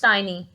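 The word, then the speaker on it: tiny: इट्स नॉट टिनी, इट्स टाइनी. टाइनी, little और mini.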